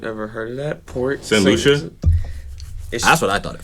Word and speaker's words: St. Lucia: St. Lucia? That's what I thought at first. And I was like, you got money. St. Lucie? I thought it was Lucia. No, St. Lucia.